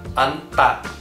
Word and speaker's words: 앉다: An é a raiz do verbo anta, que significa sentar. Anta. Se falarmos só a primeira sílaba, an, repare que só um dos sons é pronunciado. Nesse caso, é o som de N, n, an.